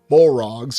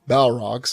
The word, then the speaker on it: Balrog: And then, of course, if you refer to the demonic or horrific Bolrogs or Balrogs, there's different ways to pronounce that as well, the demons of the ancient world, they were actually Maiars just like Gandalf was.